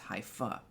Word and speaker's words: hypha: into the heavens it's hyphae hyphae googling that real quick all right google h y p h a e hyphae hypha it's apparently pronounced haifa plural hyphae each of